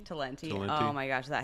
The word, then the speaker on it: Talenti: Talenti. Talenti.